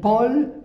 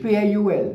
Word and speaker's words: Paul: Paul, it's written as in English, P-A-U-L, but as you know, in English we say Paul. In French, we read it Paul, Paul, not Paul.